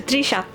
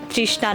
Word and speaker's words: তৃষা: যেমন আমি যদি আমার নামের কথা বলি, আমার নাম হচ্ছে তৃষা। উচ্চারণ যেমন তৃষা, বানান হচ্ছে তরিকার মূর্ধন্য আকার। এখনো পর্যন্ত আমাকে এই নামের বানানটা, উচ্চারণটা সবাইকে বলে দিতে হয়, এটা তৃষা না, তৃষ্ণা না, এটা তৃষা, বানান হচ্ছে এরকম।